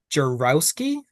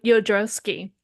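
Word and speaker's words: Jodorowsky: still can't pronounce so I have heard that the J's are y sounds, so it. it's Yep. Yodrowski.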